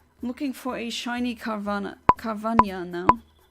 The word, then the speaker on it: Carvanha: I'm looking for a shiny Carvania now. Everyone keeps saying Carvanha, but the H in Spanish doesn't get pronounced like this. It's like in Piranha.